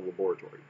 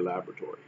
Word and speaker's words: laboratory: little trees in the laboratory or laboratory depending on your pronunciation so that being said